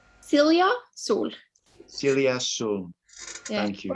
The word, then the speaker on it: Silja Sol: Today, we're absolutely delighted to be in the presence of Norwegian artist, and I'm a little bit nervous about the pronunciation, Silja Sol. Silja Sol.